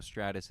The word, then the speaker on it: Stratus: name wrong yeah because you know Stratus it's like uh like Stratosphere somewhere up yeah something